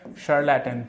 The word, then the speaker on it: charlatan: चलिए next word को discuss कर रहे थे, शार्लैटन इज the next word, शार्लैटन, fine, शार्लैटन, तो इसको प्रोनाउंसिएशन आप SH से करोगे, ओके, SH, शार्लैटन, फाइन, शार्लैटन।